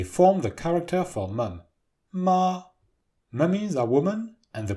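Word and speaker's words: 妈: Together, they form the character for mum, ma. Mummies are women, and the pronunciation is very close to the character for horse.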